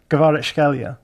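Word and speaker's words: Kvaratskhelia: The second one sounds more like a G to me, so it's almost like creature, Gvaretskelia.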